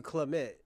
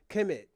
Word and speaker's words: Kemet: Oh, I finally said it right. I've been calling you Clement. Kemet.